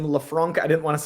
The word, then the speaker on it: LeFranc: Um, I agree and I and I get that, but I think like I I love Lauren Leafrank. That was I was trying to remember her last name. Lefranc.